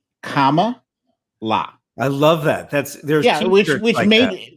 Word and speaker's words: Kamala: it you know you you've got the you got the syllables right right but the emphasis is wrong and uh I think it was explained comma la I love that that's